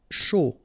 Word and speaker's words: chaud: chaud, final T not pronounced, and then when you combine this C and H, you get the sh sound, A and U, O, chaud.